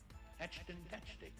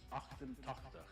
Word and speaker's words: achtentachtig: Yeah, Achtentetchtig. No, actually it's Achtentachtig.